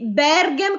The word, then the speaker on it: Bergem: Quindi Bergam con l'accento sulla prima e me con l'accento chiuso.